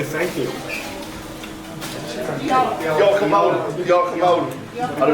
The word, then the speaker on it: Diolch yn fawr: Diolch yn fawr. Diolch yn fawr. Ar y drein fawr then. One more time? Diolch yn fawr. Diolch yn fawr? Yeah. Diolch yn fawr to everybody here. Diolch yn fawr, Joel.